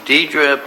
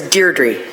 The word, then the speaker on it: Deirdre: Okay, I'd like to call upon Deidre Pike and Kathleen Kalinowski. And have I pronounced their names wrong?